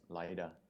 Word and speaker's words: Lido: There are people who from Russia who pronounce it as Lida. Lida, interesting. Yeah. Because O is pronounced as A in Russian.